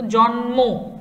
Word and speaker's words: জন্ম: দেখো এই পর্যন্ত কিন্তু যে দুটো উদাহরণ পেয়েছি সেখানে ম ফলার কোনো উচ্চারণ নেই, এখানেও নেই, এখানেও নেই, কিন্তু জন্ম এখানে কিন্তু ম ফলার উচ্চারণটা আমরা পাচ্ছি, জন্ম, ঠিক আছে?